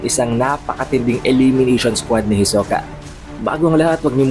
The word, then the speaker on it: Hisoka: pronunciation natin kay Hisoka Pakinggan niyo na lamang ito h Hisoka that is the original pronunciation ang pangalan ni Hisoka subalit dahil nga sa